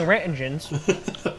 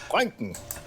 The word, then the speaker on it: Röntgen: They can only that here detector can only take so many rentigens. All right, Tornado. What do you got? Rontgens, you idiot. No, Röntgen.